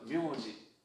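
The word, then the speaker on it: みょうじ: 미에다가 치사이요. 그 다음에 우가 왔으니까 묘우니까 묘는 뭐예요? 5단 취급하기로 했잖아요. 그러니까 오우니까 장음. 그러니까 묘. 그래서 이게 묘예요. 얘는 글자 자자는 지라고 해요. 그래서 묘지.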